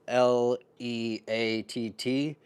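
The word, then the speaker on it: Leatt: They're called L E A T. It's pronounced Leat.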